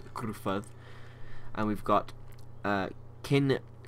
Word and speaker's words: Gruffudd: these really badly, but I believe that's pronounced Gruffudd, I believe, because 2 F's is just still F and 2 D's, but it's pronounced as TH. I remember that much, so I think it's Gruffudd.